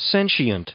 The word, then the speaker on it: sentient: I've heard both according the Miriam Webster it's sensient sent is there an altern capable of sensing